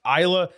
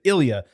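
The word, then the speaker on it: Ilja: not so much wrong but not exactly correct Isa is not wrong because some people do pronounce it that way but Ilia is clearly the way he pronounces it and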